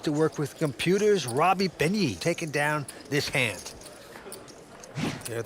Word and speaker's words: Benyi: All right, right back on Robbie Benyi. He looks down at a pretty attractive ace-9 of clubs, Phil. How do you pronounce that last name?